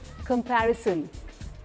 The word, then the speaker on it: comparison: हमें जज कर रहा है, लेकिन द सही प्रोनाउंसिएशन इज कंपैरिजन.